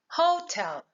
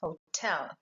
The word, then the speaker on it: hotel: So obviously these two words break the rule of a noun because you would not say hotel, but it is hotel.